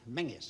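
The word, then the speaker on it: Menzies: General menis s m what did you say phas we pronounce it mangis sir do you from Major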